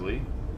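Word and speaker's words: Leigh: life Christopher Lee stubel his name is Lee yeah it's spelled a weird way l e i g h uh Chris Lee St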